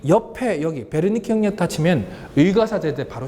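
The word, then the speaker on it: Wernicke: 여기는 프랑스 아니고 독일 의사 베르니케. 이게 원래 W 시작해서 웨르니케라고 읽는 것처럼 보이지만 베르니케라고 있습니다.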